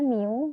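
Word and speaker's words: μ: dengan rumus yang ini Ini bacanya new ini adalah rata-rata populasi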